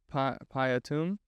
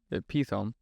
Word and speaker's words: Pithom: Looks like Piatum. I'm pretty sure it's Pithom.